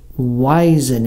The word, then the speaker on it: Waisanen: wanna take a guess it's finish so there's a clue it's it's pronounced wiesen in let me tell you